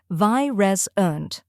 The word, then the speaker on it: virescent: The correct pronunciation is virescent. Let's break it down. First, we have vi, which rhymes with my.